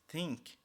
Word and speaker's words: think: Lembrando que o TH no think ele tem uma forma diferente de pronunciação, que não é o F, think, ou think, é TH, que é a língua entre os dentes, como eu já havia ensinado a vocês.